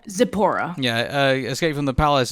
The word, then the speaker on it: Zipporah: You're gonna have to help me pronounce this name, Tisphora. Oh, Zipporah. Zipporah.